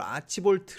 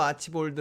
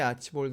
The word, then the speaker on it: Archibald: 않습니까 그래서 혹시 걸 아치 볼트 라고 있는 것은 아닌가 하고 좀 호주 사람들이 발음한 걸 몇 개 봤어요 그랬더니 일관적으로 아치볼드 라고 발음 하더라구요 그래서 복잡하게 생각하지 말고 그냥 편안하게 아치볼드 라고 하면 되겠구나 그런